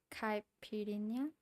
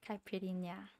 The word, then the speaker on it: Caipirinha: Caipirinha. Did I say it right? I don't want to butcher it. I feel bad butchering names, you know? Caipirinha.